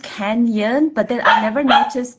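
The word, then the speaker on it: Cañon: call it I know it's supposed to be pronounced Canyon but then I never noticed the I never noticed that and I always called Canon and I'm like who's Canon or what's Canon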